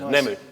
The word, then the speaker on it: Nemu: Is it Nemu? I chose a difficult name to pronounce. You should, yeah. Nice. Nemu.